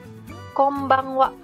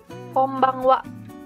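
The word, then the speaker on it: こんばんは: Konnichiwa artinya selamat siang Kombang Wa Kombang Wa artinya selamat malam di sini n-nya dibaca m Terus yang di sini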